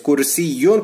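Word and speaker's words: كرسي: Kursiyun con el shadda se pronuncia yun, es una silla.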